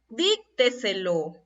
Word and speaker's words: Dícteselo: Entonces, aquí tenemos la sílaba lo, esta es la última, esta es la penúltima, esta es la antepenúltima. Y esta vendría a ser la anterior a la antepenúltima, o la sílaba que está antes de la antepenúltima sílaba. Entonces estoy frente a una palabra sobresdrújula.